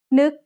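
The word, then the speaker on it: นก: Nuk has an initial low class consonant and a final stop that makes it a dead syllable, plus a short vowel that makes it a high tone.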